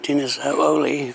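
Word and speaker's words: Dinas Oleu: Welcome to Dinner's Ooli. That's how you pronounce it.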